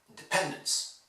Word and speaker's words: independence: In English, you must pronounce the stressed syllable much more than the others. Independence. If I exaggerated, I could say that the only thing you need to hear in independence is pen.